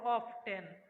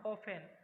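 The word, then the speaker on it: often: অফেন, অনেকে উচ্চারণ করো অফটেন, অফটেন না অফেন।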